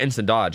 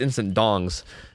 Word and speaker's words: Instant Dongs: It's not Instant Dodge. It's Instant Dongs versus Reminiscent, which will be a really, really good team.